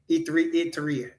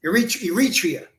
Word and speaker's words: Eritrea: Iteria. I can't even say it right, but yes, Eritrea.